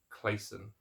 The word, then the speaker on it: Clason: Clason.